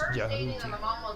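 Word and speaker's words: Djehuti: Yeah, the G is silent. It's Jahuti.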